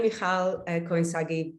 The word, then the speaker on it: Michal Cohen-Sagi: thank you Ed and wow thank you for pronouncing my name so beautifully that's not an easy one so yes I'm Michael koinsagi being in the UK for 20 years now